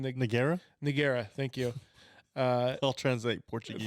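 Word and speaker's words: Ngannou: Nagara.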